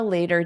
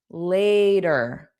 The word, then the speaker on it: later: Similar, but the vowel sound is not the same. We have ladder. Later a. So this is a long a with later. Later later, a long a sound.